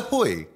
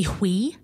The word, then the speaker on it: Hui: No, you see, the thing is, like, because it actually means dick in Polish and Russian, so I always say Hui, but the thing is, you pronounced it the way it's supposed to be pronounced. Hui.